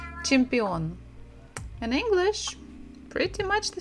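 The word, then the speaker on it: чемпион: IA chia gym Champion so we stress the final syllable chimpeon in English pretty much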